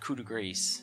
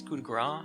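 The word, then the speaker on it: coup de grâce: It's not coup de grace, right? It's coup de grace. I believe that's how that's pronounced, even though it says grace.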